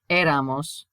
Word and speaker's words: éramos: Nosotros o nosotros éramos. Look at the accent on the E here.